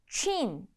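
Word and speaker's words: Çin: 중국은 친, 차이나가 아니고요.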